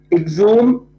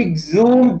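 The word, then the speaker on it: exhumed: on he exed them exume is spell e ex h u m e d the H is silent you don't have to pronounce it so he exume the poems later on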